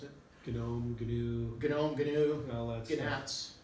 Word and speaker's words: GNU: I pronounce the G. Some people don't. Oh, in GNU Radio? Yeah. That's how I've always pronounced it. GNOME, GNU.